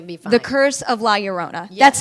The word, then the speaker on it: La Llorona: on it yeah and you got to roll your R yeah the double L just means a Y I can think of